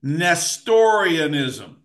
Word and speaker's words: Nestorianism: Number eight, Nestorianism. Let me spell it, big word. NEST, like nest.